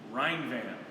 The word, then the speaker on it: Rhinevan: here mike and matt rhinevan like the rhine river and a van so i know there's